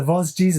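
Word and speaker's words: Vosges: mountains, which probably in English is pronounced the Vosgis mountains, but I actually prefer the French version, the Voj mountains.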